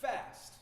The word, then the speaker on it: FST: It's pronounced fast. No vowels.